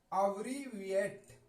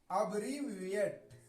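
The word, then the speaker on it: abbreviate: अब देखिए ABREVIATE, अब ये तो लोग पढ़ जाएंगे, लेकिन इसका उच्चारण क्या सही पढ़ा जाएगा ये एक बार से, ये मुश्किल पड़ जाता है। उसके लिए मैंने आसानी के लिए यहां लिख दिया है अब्रीविएट। अब्रीविएट क्या पढ़ेंगे?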